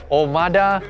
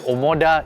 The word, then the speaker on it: Omoda: for the Malaysian Market this is the Cherry omada Hodo Komodo your omada what yes Hodo E5